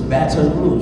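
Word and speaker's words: Baton Rouge: y'all in batt rou they tell me I don't say it right this that's how you supposed to say it with a little a little flare on it so it's B rou is what they say that's how you're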